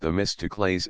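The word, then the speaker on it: Themistocles: trying to be leader one was named the mytical pronounced the mystics and the other aristes pronounced aristes notice how many Greek names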